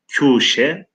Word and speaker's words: köşe: Nihayet bu tenha vadinin bir köşesinde, köşe kelimesinin orijinalde arkadaşlar kuşe, fakat biz köşe diye okuyoruz Farsçadan dilimize geçme.